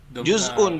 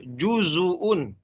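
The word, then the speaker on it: جزءا: Huruf zainya dengan juz'un, dengan sukun. Sukun. Ya, dengan sukun. Tapi di Imam Syu'bah juzuun, ya. Itu perhatikan dhammahnya, juzua, seperti itu.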